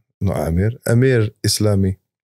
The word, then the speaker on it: Amir: today I'm joined by none other than Dr Ami no Amir Amir islami how do you say welcome in